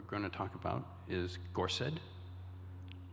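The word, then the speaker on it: gorsedd: words and we begin with the word ahwan it's spelled a-w-e-n the next word that we're going to talk about is gorset spelled g-o-r-s-e-d-d and the last i studford spelled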